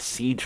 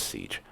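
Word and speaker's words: seiche: uh what was called Siege flooding or yeah I think it's pronounced as Siege uh it's spelled s-e-i-c-h-e but um a lot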